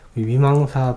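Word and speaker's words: vīmaṃsā: 위망사 부분을 보면 위만사라고도 이렇게 얘기를 하기도 하는데 빨리어를 보니까 위망사라고 이렇게 발음하는 게 맞는 것 같아요.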